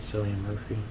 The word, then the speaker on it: Cillian Murphy: Is that how you pronounce it? Cillian Murphy.